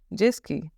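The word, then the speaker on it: jet-ski: हम फ्रेंच क्या बोलेंगे जसकी ओके जेट स्की में स्पेलिंग सेम रहेगी सब कुछ सेम रहेगा ब little bit pronunciation difference there okay जस्की T will be silent जस्की next आता है समरीन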